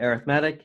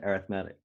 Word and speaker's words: arithmetic: thing called an arithmetic sequence that's how you pronounce it arithmetic and it looks like your arithmetic but it's pronounced arithmetic and basically you're learning actually two equations the